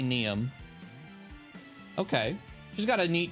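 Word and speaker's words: Niamh: is neum and n-i-a-m-h that could be pronounced something entirely differently depending on language of origin but I'm gonna say neum okay she's got a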